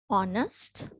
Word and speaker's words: honest: is our right so even though we have h we do not pronounce it right so i just